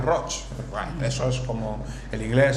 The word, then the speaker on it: Roig: catalán es tan complicado escriben y pronuncian rock band ingresos como el